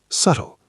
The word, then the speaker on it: subtle: Subtle, pronounced subtle, silent B.